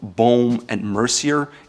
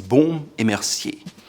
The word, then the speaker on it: Baume Mercier: It's not Baume and Mercier, it's Baume Mercier. The ampersand is A because it's French and it's very soft.